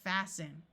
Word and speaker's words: fasten: same thing happens here the root is haste and we add the n and the T sound disappears and fasten two other common words